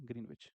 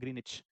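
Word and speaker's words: Greenwich: London में भी कौन सी जगह है, ग्रीनविच। इसको ग्रीनविच नहीं कहते वैसे, मैं आपकी वजह से बोल दे रहा हूँ, लेकिन इसको ग्रीनिच कहा जाता है। डब्लू साइलेंट होता है इसमें, इसको क्या बोलते हैं, ग्रीनिच।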